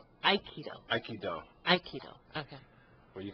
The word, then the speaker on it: Aikido: So, what is the origin of the term Aikido? Okay, Aikido... I'm saying it wrong. Aikido.